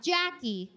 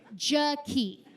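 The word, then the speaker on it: Ja-Kee': Her name is Jaquie. Not Jackie. Jaquie. It's spelled j a {dash} capital k e e {apostrophe}.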